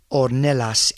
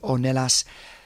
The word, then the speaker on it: Ornelas: Tracy Ornelas. I always go to do a Spanish pronunciation when I do that double L. Tracy Ornelas Nicholson, congratulations on booking your ticket to start the Camino in September.